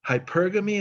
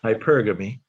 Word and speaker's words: hypergamy: do you say that i call it hypergamy is that how you pronounce it yes okay you have to understand them cuban and i sometimes mess up this pronunciation hypergamy okay that means women